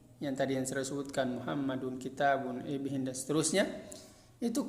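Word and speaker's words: مُحَمَّدٌ: Maka cara membacanya dia adalah dibaca seperti nun sukun di akhir kalimat. Contohnya adalah Muhammadun. Seolah-olah di sini dalnya dia di dhamma, kemudian setelahnya ada nun sukun, dun.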